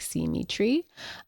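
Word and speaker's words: Simitree: band Symmetry, which is spelled S I M I T R E E. So, like, see Tree.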